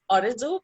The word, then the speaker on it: Arezou: mean okay well yeah my name is arizu this is how we um pronounce it in something like having